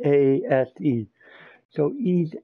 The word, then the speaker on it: Ys: playing E I know it's spelled YS but pronounced YZ like e a se so YZ 8 forgot the title of it already uh